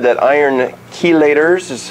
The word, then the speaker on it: chelators: Researchers at Wake Forest said that iron chelators, is how you pronounce that, may be a valuable therapeutic agent in the treatment of cancer.